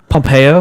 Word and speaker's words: Pompeo: Pompeo.